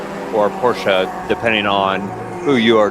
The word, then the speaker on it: Porsche: It's the brand is German. It's you pronounce both. It's not French.